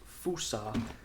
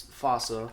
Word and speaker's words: fossa: For example, the infamous fossa, which, yeah, it's not actually pronounced fusa, it's fossa, which sad childhood noises.